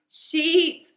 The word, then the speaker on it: sheet: Sheet, or say it with I. Shit.